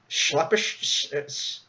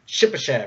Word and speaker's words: Shipachev: around with contracts like, I keep mispronouncing his name, and I can't remember it. Schleppish. How do you pronounce his name? The Russian guy we're talking about? Shipachev, yeah.